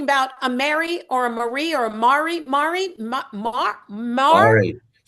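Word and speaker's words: Mhairi: It was like a Mary and then they corrected. They went Mari. It's actually very it's Gelick for Mary.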